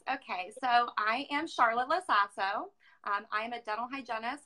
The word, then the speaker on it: LoSasso: Is it LoSasso? Okay. A little sass.